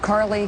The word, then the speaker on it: Carly: And although there is really only one true winner, and her name rhymes with gnarly, today she was nothing if not on message. Joining us now from Semi Valley, California, Carly Fiorina.